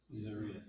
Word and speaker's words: Caesarea: Caesarea.